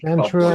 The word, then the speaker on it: Santra: I said Santra as in Santa Claus, but with an R.